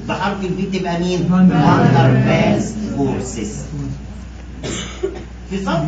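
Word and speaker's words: Waals: والاي ايونيك بوند اللي انتوا سمعتوا عليها زمان حاجه اسمها الرابطه الايونيه، والفي فاندر فالز فورسز، بتتنطق فالز مش والز، ليه؟ عشان ده راجل الماني بيتكتب بالدبليو بس بيتنطق بالفي.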